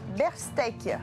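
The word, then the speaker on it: Bearstech: une coopérative d'experts des logiciels libres qui s'appelle Berstech. C'est bien prononcé?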